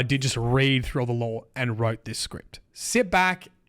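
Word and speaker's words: Lhowon: The Lawan I've been told to pronounce this uh Laan with that H actually pronounced. I've heard others just say Lwan.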